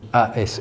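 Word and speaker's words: Ase: langue ocitane un anne a s e se prononce as as comme tout comme les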